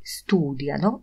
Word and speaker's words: studiano: Perché studiano il cinese? Dlaczego uczą się chińskiego ludzie? Studiano. Proszę zobaczyć, ten akcent dla trzeciej osoby liczby mnogiej pada na trzecią sylabę od końca.